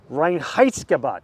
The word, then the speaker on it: Reinheitsgebot: They opened in 1986, making lagers adhering to the Reinheitsgebot.